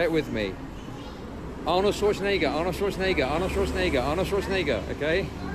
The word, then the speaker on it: Arnold Schwarzenegger: Arnold Schwarzenegger. Arnold Schwarzenegger. Say it with me. Arnold Schwarzenegger, Arnold Schwarzenegger, Arnold Schwarzenegger, Arnold Schwarzenegger, okay?